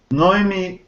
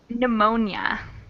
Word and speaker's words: pneumonia: Not, now, knee, knife, knit, knickers, knuckle, psychology, psychiatrist, noemia. That one would be pneumonia.